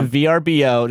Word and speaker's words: VRBO: went we got a verbo vbo I don't know how to pronounce I know V vbo yeah you say the letters yeah you just say it stupid name we got VRBO just say go to